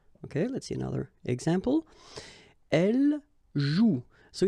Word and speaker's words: joue: combination of the vowel O and U, and together, you know that they produce the sound OU, okay? And it's exactly the same rule, so you've got this after, but then clearly you don't pronounce it, okay? Elle joue.